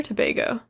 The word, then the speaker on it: Tobago: uh country very cool is it tobogg or tobago oh well of course i was pronouncing it wrong thank you grace it is trinidad and tobago please forgive me i am